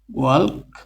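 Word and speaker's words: walk: ওয়াক, এস L silent থাকবে, ওয়াক।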